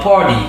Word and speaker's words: party: At the But it's always try to pronounce the T like a little D most of the time.